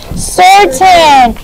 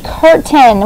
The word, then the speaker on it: certain: a i n certain i have heard people read that word before to me and and say curtain when they're trying to pronounce it remember that the rule is with your c's is that oops when c is followed by does anyone remember this rule when c is followed by an e i or y it